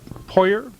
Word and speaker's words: Poyer: The people that pronounce that other than Poyer once in a while? No. No? No, they Everybody, pretty much everybody pronounce pronounces it Poyer?